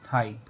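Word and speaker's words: thigh: जैसे हाई, साई, थाई। इन सभी words में वर्ड के लास्ट में जी एच आया है और जी एच को हमने नहीं पढ़ा है।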